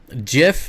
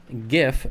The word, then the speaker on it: GIF: gif well that's pronounced gif because it's g like the people that say jeff need to remember that it's not spelled with a j it's spelled with a g thanks for the likes